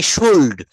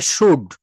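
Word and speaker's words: should: আমরা যারা নতুন এই ভাষাটা শিখতে আসি অনেকে আমরা বলে থাকি শুল্ড, এটা উচ্চারণ হবে শুড, এস এইচ ও ইউ এল ডি, শুড।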